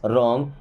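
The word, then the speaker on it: wrong: या यूं कहे कि डब्लू के बाद अगर कभी आर आता है तो डब्लू को नहीं पढ़ा जाएगा ओके जैसे दिस इज रॉन्ग मींस ये गलत है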